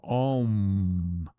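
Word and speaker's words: Aum: The closest word is Om, or more precisely, A-U-M, Om, where each syllable carries a different dimension of creation, condensing finally into the vibration at the crown of the head.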